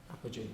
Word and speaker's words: apogee: So the Moon has perigee, where it's closest, and it also has apogee. What's that? You have to put the O in to make it pronounceable.